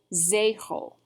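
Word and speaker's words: zéro: it to say that an a goo makes a long a sound so instead of saying zero the french say zayho try it for me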